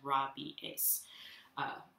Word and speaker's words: rabies: In Latin, this would actually be pronounced in Latin as rabies, with that syllable separate.